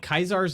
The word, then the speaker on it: Caesar: Yeah, they call it Kaisar's Legion. I know it is weird, but they still spell it like Caesar.